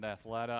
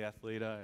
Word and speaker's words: Athleta: I know my daughter pronounces it Athleta. I've forgiven her for it. It's really Athleta. At least I believe so, but we'll debate that another day.